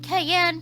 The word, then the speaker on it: Cayenne: Cayenne pronounced like the pepper.